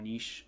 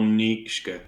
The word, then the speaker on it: Nietzsche: And so yeah, this has been Kalinik along with Draw Project and General Niche. Sorry, let me say your General Nietzsche.